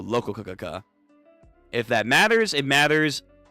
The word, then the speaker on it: Rokakaka: They changed up the pronunciation from Rokakaka to Lokakaka.